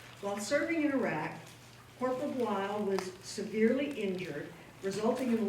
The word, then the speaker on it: Bleill: Marine Corporal Josh Bleill, rhymes with Kyle, is a native of Greenfield, Indiana, Hoosier.